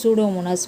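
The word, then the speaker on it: Pseudomonas: ஸோ you will read out சூடோமோனாஸ். P is silent okay.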